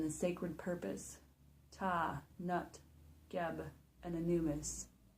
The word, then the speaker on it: Ptah: Ta, Nut, Geb, and Anubis. And Ta is spelled PTAH.